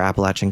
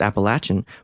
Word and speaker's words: Appalachian: that I talk to say that it's pronounced Appalachian but Dolly Parton says Appalachian she really who are